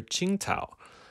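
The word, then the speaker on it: Tsingtao: the famous chinese beer qingtao which is spelt a little differently on the beer it's spelled with a t-s-i-n-g-t-a-o the actual city name is spelt q-i-n-g-d-a-o but it's the same thing and it's the city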